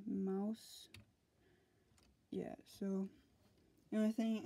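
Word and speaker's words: Maus: how you spell it it looks like it's pronounced moss but it's actually Mouse yeah so the only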